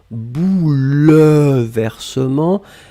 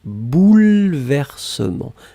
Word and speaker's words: bouleversement: Alors attention, on écrit vraiment un E après le L, même si phonétiquement il n'existe pas vraiment, hein. On ne dit pas bouleversement, mais on prononce bouleversement. Mais le E doit être là.